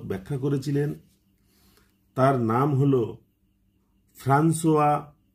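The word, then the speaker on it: François: সর্বপ্রথম যে ভদ্রলোক ব্যাখ্যা করেছিলেন তার নাম হল ফ্রান্সোয়া Viet F আর এন সি ও আই এস বা ফ্রাঙ্কোইস আমরা এরকম উচ্চারণ করি কিন্তু এর আসল উচ্চারণ হচ্ছে ফ্রান্সুয়া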